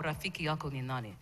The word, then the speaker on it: Rafiki yako ni nani: Oh, Rafiki yako ni nani?